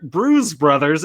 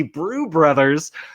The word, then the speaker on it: Brews Brothers: being like Rich Eisen is mispronouncing the name of the show he's calling it brew brother Bruce brothers it's obviously brew brothers and I found myself